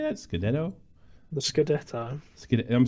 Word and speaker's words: scudetto: The Scudetto.